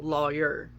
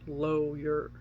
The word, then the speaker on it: lawyer: how people say lawyer i pronounce it with law in it so lawyer apparently other parts of the country say lawyer or low your i can't even pronounce